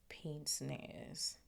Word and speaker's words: pince-nez: Hold on, pince nez pronunciation. No, wait, hold on. Pince nez.